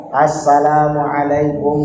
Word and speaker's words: Assalamualaikum: Ada panjangnya, lamnya panjang. Assalamualaikum warahmatullah.